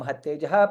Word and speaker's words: महत्तेजः: Paramayyo mahattejah, there is ta, half ta and full ta.